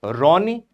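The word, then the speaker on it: Ronne: This is a Ronni ice shelf written as R O N E but pronounced as Ron ice shelf.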